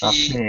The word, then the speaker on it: buffet: The T Buffet. is silent. Buffet. Train. Yeah. Sounds like it has a AY on the end.